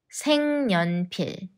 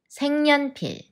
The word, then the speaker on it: 색연필: ne another change takes place which is 생 생년필 생년필 색연필로 그림 그리는 거 좋아해 색연필로 그림 그리는